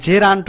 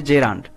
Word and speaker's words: gerund: তাকে বলা হয় জেরান্ট এটা অনেকেই কিন্তু জিরান্ট বলে এটা আসলে ভুল উচ্চারণ প্রোনাউন্সিয়েশন হবে জেরান্ট তারপরে যেমন জেরান্ট আমরা